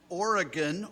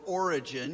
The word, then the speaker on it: Origen: We can see these influences in Origen or Origin, you can say his name either way, Nosotros podemos ver esta gran influencia, por ejemplo, en el padre de la iglesia llamado Orígenes.